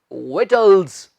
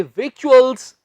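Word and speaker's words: victuals: बड़ी गिनती में, बड़ी मात्रा में जो खाने पीने की चीजें हों, उन्हें हम बोलते हैं विटल्स, ना कि विक्चुअल्स।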